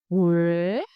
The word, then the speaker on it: Huế: ue ue ue And the tone s raising pitch again, sharp and clear. hue hue hue Our full combination moon ma hue Repeat after me.